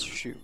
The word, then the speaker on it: Xu: that shakar maybe uh X is pronounced as sh sound in Chinese it's the way that we've uh romanized it minion see someone whose last name is XU it's not Zoo it's Sho child of be pressent combat